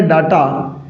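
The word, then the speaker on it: data: इसका उच्चारण डाटा ही करते हैं, लेकिन इसका जो करेक्ट प्रोनाउंसिएशन होगा वो डाटा नहीं होगा साथियों। ये क्या होता है? डेटा होता है।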